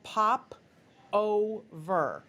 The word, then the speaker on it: PopOhver: This, these are called PopOhver.